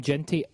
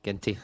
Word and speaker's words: Ginty: It's from Ginty at Ginty1888. Hard G. Ginty. Hard G. Apologies.